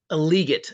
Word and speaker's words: Legette: lot of people like is it Legette is that how you say the last name liot is apparently how you